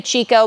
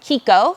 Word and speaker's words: Chicco: Some people say Chicco, but the brand actually wants you to pronounce it Chicco because they're Italian.